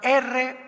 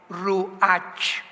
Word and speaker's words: Ruach: la palabra como suena, R-U-A-C-H, Ruach, que es la palabra hebrea que significa espíritu, y se pronuncia la CH en el hebreo como J, Ruach, como J, Ruach.